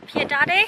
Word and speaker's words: Piedade: Piedade?